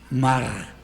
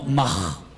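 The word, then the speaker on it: מר: En español la hemos pronunciado muchas veces, pero en hebreo es otra cosa. ¿Cómo? Mar, no maj, no, mar.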